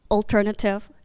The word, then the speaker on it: alternative: 생긴 것만 보면 네이티브처럼 보이지만 그 단어의 올바른 발음은 alter alternative 그래서 이음의 강세가 있어서 나머지의 모음 소리가 약해지는